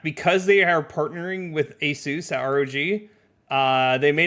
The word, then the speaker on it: ASUS: I take it back because they are partnering with ASUS at ROG.